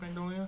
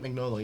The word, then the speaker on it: Mignola: John Byrne, Mike, a little Hellboy guy, Mike Magnolia. Is that how you say his name? Mike Mignola, yeah.